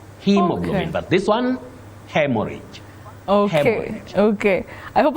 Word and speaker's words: hemorrhage: Betty, you say hemorrhage.